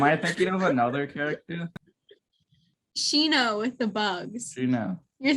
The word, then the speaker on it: Shino: Shinaru. What? Shinaru. What did you just say? Shinaru. Shinaru? Yeah. No, Shino. Shino. We're right here. Shino. Wait, Shinaru. There's no R.